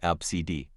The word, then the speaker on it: Abst: Abst, which is apparently pronounced like ABCD.